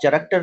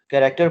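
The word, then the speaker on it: character: अब लेकिन यहाँ चे की देखें CH को, यहाँ काफ की साउंड है, आप चरक्टर नहीं बोल सकते, इसको क्या पढ़ेंगे? इसको क्या पढ़ेंगे? इसको कैरेक्टर पढ़ेंगे।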